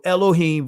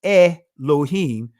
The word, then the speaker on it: Elohim: So when you say elohim, right, the alith or in the ancient Hebrew alop is silent. So you're never pronouncing this first letter.